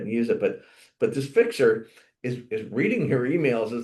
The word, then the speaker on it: Fyxer: And I didn't even see a pitch for this one, but it's called Fixer, and it's spelled Fyxer.